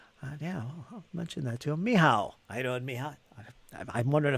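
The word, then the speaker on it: Michał: there it is uh it's a Polish version of Michael it's pronounced miow miow is it really I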